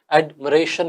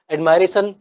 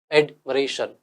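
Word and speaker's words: admiration: वैसे इसको अगर देखा जाए तो शुद्ध रूप से एडमिरेशन ही बोला जाता है। एडमायरेशन से बेहतर इसका जो प्रोनाउंसिएशन है वो क्या है? एडमिरेशन, याद रखना।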